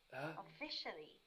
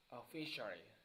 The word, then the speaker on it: officially: The stress should be on the second syllable. Officially. Officially.